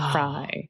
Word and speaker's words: Fry: It's pronounced Fry, like French fry or Glenn Fry.